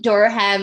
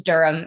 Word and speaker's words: Durham: as they hear so i think i said durham airport and uh my trainer was like it's durham and i was like